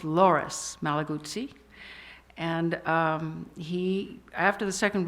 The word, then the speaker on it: Loris Malaguzzi: One comes out of Italy, from a town called Reggio Emilia, and I got the man's name wrong. It's Loris Malaguzzi.